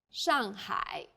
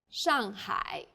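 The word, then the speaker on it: 上海: city Shanghai is Shanghai the first syllable here is made of an initial and a final and a fourth falling tone the second syllable is made of an initial and a final I and a third falling then Rising tone hi Shanghai well done let's wrap up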